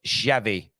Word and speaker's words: Xavi: Pronounced Xavi.